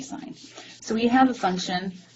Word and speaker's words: sine: i n e but is abbreviated as Sin but don't say sin say sign so we have a